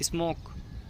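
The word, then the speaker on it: smoke: जैसे एग्जाम्पल दे लेते हैं, स्मोक धुआं, शुरू में ओ आ रहा है, एम ओ के बाद ओ आ रहा है, लास्ट में ई आ रहा है, ई की कोई आवाज़ नहीं है, ई को साइलेंट कर दिया हमने।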